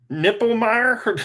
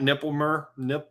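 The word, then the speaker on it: Knippelmeyer: Kipper, how do you say that? Nippelmeyer? No. It's Knippelmier. Is that Nippelmer?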